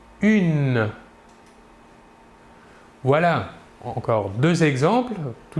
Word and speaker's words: une: une il s'écrit humaine il faut bien différencier la prononciation entre le masculin et le féminin au masculin 1 et au féminin une voilà encore deux exemples